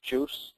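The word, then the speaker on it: JeOS: It already does come with a barebones paired down uh version of Linux called Linux Juice as it's pronounced or just enough OS and it boots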